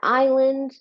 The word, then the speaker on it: island: You've got island, same thing here with the silent letter.